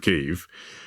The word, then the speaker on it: Kyiv: like everyone else that people in Ukraine like to call Kiev Kyiv, and I call Kiev Kyiv, but I can't get used to calling the chicken Kiev a chicken Kyiv.